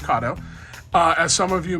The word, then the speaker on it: Kato: let's talk about kado it's pronounced kado uh as some of